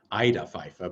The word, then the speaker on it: Ida Pfeiffer: And thank you for the invitation to talk about Ida Pfeiffer, as you correctly pronounce her name in German, although of course in English people say Ida Pfeiffer, but I kind of prefer Ida myself.